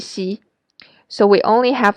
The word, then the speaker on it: xi: And xi is somewhere between s and sh in English. Make sure your lips are spread wide when you say xi, and the middle part of your tongue is pressed up against your hard palate.